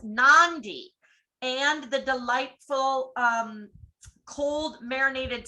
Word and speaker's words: Nadi: Any word with a D has an unwritten N in front of it. Nadi is pronounced Nandi, and the delightful cold marinated seafood dish kokada is kokanda.